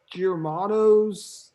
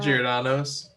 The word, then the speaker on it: Giordano's: we ate at i'll butcher the name germanos something like that giordano's giordano's we ate giodano's that